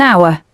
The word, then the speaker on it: hour: For example, an apple, an orange, an egg, or an hour. The letter H is not pronounced so we use an.